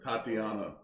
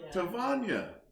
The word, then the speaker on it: Tvonia: Tatiana is not it. No. You ever done that? It rhymes with lasagna. See, it's now Tvonia.